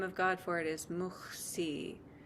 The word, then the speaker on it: Muhsi: Rather, the beautiful name of God for it is Muhsi. It's spelled M-U-H-S-I with English letters, Muhsi.